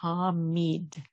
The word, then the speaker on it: Hamid: And then today we bring in Hamid, and that's spelled H-A-M as in Mary, I-D as in David, Hamid.